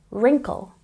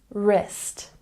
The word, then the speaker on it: wrinkle: wrap wrap and here don't say the W because you know that when w is before the r we omit the sound and we simply say wrinkle wrinkle and this one